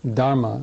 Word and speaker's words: Dharma: taught the dhma or Dharma as it's pronounced in Sanskrit and D is a